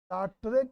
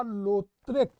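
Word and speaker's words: Lautrec: टुलूस, लाट्रेक या लोत्रेक, दोनों उच्चारण होते हैं, एक पढ़िए या लोत्रेक।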